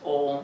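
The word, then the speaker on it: ॐ: in this way that om it's not actually om it's a and a and u together pronounce together are pronounce om or the exact pronunciation is probably a little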